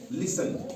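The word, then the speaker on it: listen: एल आई एस टी एन लिसन। इसको लिस्टन नहीं पढ़ते हैं। क्यों? क्योंकि इ एन से पहले टी आ रहा है। इसलिए यहां टी साइलेंट रहेगा।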